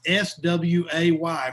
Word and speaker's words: Sway: the host of the New York Times podcast, Sway. With my Texas accent, I want to make sure that's S-W-A-Y for anybody that didn't understand what I Yes, it's sway.